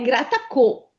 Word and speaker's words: grattacò: se ci fosse la dieresi sarebbe grattacò e invece è grattacò. Quindi c'è una O chiusa. Chiusa, Grattacò.